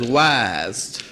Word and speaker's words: YHST: And I say you pronounce that as wise. Now, if you look around